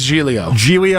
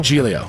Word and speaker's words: Giglio: Joe, is it Giglio? Is that how you say it? I think it's Giglio. Giglio, like Gigli.